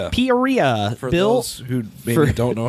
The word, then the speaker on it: Peoria: Poria, those who maybe don't know how to pronounce it.